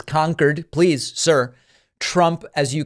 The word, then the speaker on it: Concord: in conquered New Hampshire Trump pronouncing it Concord like the infamous supersonic jet but it is conquered please sir Trump as